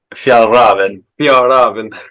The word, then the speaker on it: Fjällräven: Fjällräven.